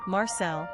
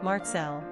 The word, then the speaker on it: Marcel: Pronunciation, Marcel, French, Marcel, Polish.